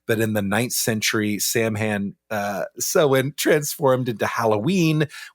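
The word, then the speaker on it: Samhain: There's uh there's some other ones like Celtic sewen uh pronounced Sam Hayne by some Americans. uh is the ancestral Halloween. We don't even know how old this is, but in the 9th century, Sam Han uh so transformed into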